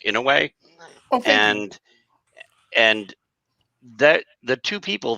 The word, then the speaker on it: Inouye: Like, by the way, the senator's name is pronounced Inouye, and that the two people that were involved